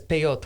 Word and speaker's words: peyot: Depending on the dialect, because the Ashkenazim, the Jews from Northern Europe, they actually pronounce the tav as a S. So, because I've heard of it as peyot, which is plural. You know, the ot is a plural ending for a word in Hebrew.